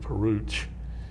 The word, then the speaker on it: Parouche: for a young character luke parouche you know he's rhymes with pooch i have to remember